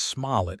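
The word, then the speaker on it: Smallet: Her last name is Smalllet, emphasis on the last syllable.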